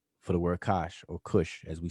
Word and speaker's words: Kush: You see the word Kush right here. You see this glyph here, this glyph here. Without me going into detail about it, this word spells the word Kash, but we pronounce it as Kush.